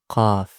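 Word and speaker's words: ق: Qa, qa, qaf, qaf. As you see, the back of your tongue goes up. Okay? And then you pronounce it that way with full mouth because it's one of the heavy letters.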